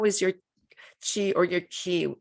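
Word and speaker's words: 기: your she or your ki in korea we pronounce it ki how was your key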